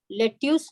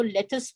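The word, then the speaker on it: lettuce: So they are these kind of, और इसको लेट्यूस नहीं बोलते, इसको लेटस बोलते हैं। Okay okay some pronunciation mistake, American styles और इंडियन स्टाइल। अरे भाई, अमेरिकन स्टाइल की बात नहीं है, इसको बोलते ही लेटस है ओके अब।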